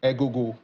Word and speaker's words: Egogo: Egogo. Egogo. Some just people like call it Agogo. Yes, exactly. There you go. So that's the appropriate way.